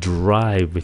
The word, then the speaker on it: drive: Từ này là "drive," phát âm là âm 'r' . Hãy lái xe, đừng nói "jrive" (lái xe chậm rãi).